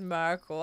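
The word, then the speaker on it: Myrkul: I hate that this is Merkel. I want it to be pronounced Mercule. Mercule, but we can't all have what we want.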